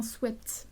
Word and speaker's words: sweat: J'ai appris qu'on disait sweat parce que sweite ça veut dire doux. Enfin la prononciation sweite ça veut dire doux. Du coup sweat shirt en fait du coup on est censé dire sweat.